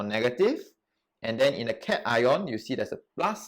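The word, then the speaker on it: cation: n stands for negative and then in a cat ion you see there's a plus sign here so t cat ion right positive so practice pronouncing it cat ion and anion all right so this is the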